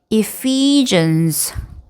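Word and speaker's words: Ephesians: 자, 그다음에 에베소서. 자, 이것도 마찬가지 이음절의 강세가 있어요. 그래서 epesians epesians 빌립보서는요 역시 두 번째 음절의 강세가 있습니다.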